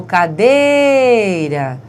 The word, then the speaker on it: cadeira: O cadeira. Veja a sílaba tônica de cadeira, é o dei, certo?